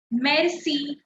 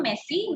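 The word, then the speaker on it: merci: very simple word Meli Mercy Mercy Mercy Mercy not messy Mery R but the r is very quick Mery M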